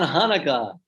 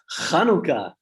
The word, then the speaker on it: Chanukah: It's not Hanukkah, it's Chanukah. Act like you're a Corona super spreader. Risk releasing all that saliva into the atmosphere to pronounce the elusive sound of the letter Chet.